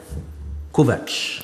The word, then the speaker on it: Kovacs: Du personnage principal, Kovacs. Oui, c'est ça. J'ai réussi à bien prononcer cette fois-ci.